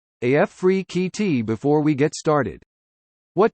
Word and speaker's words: Afrekete: home Nike product tester Africa at work from home jobs pronounced AF free QT before we get started